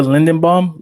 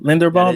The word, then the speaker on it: Linderbaum: his name though ty is it tyler lindenbaum linderbaum yes that is correct that's the guy i